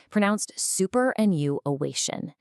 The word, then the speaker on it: superannuation: Up at the absolute highest peaks of the mountain, we find words like superannuation. Pronounced superannuation.